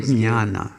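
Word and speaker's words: jnana: there are terms like j-n-a-n-a ginana yeah we call it guyana here here yana that's how it's generally pronounced in india ah okay and uh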